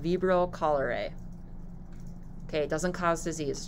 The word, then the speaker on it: cholera: into a disease-causing agent so now cholerae or chlora no i'm saying this wrong damn it loving a timer cholera cholera that's how you say it um now it